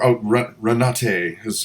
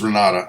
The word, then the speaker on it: Renata: And before, Renate she's already. It's Renata. I'm sorry. Take on. I knew someone in Florida, and that's how she spelled her name, and she pronounced it Renata.